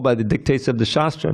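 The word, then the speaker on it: शास्त्र: root of the word shastra and shastra. Notice there's two different words, shastra with a long A and shastra. Shastra, of course, is scripture. Shastra is a weapon.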